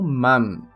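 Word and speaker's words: 万: Mas indo para o terceiro kanji, veremos o que representa o número 10.000, e o lemos como man. Man.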